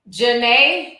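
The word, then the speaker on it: Jhené: Jenna Lynette says, it's pronounced Janae like Aiko.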